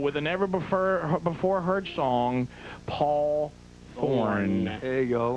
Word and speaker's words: Thorn: Ladies and gentlemen, please welcome to the show with a never before heard song, Paul Thorne. There you go. And the E is silent.